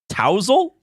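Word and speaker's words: tousle: yeah and it's wrong you said t w z e l yeah that's almost how it's pronounced but it's spelled t o u s l e tousel tousel oh to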